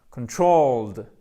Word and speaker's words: controlled: Donc, contrôler, ça nous donne, attention, accent tonique ici, exactement, controlled, de, et ça se termine par un de, juste là.